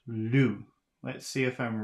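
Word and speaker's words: loup: is Lu l-o-u-p but the p is not pronounced it's just Lu do do d-o-u-x do the X is not pronounced 13.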